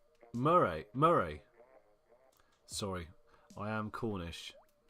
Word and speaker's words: Moray: know Tanner 2k in the chat sorry is pronounced Marie Marie sorry I am Cornish Marie patty Murray